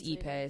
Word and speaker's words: Ippei: So, the scandal is that, so his translator's name, I don't know how to pronounce it. We can go with initials. Like, Ippei. It's Ippei, sorry.